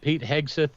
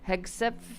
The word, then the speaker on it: Hegseth: I mean, did Pete Hegseth, who I have decided that Hegseth is actually